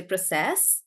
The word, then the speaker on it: process: versus a verb and when you use it as a verb we stress on the last bit and we say process like that do you remember that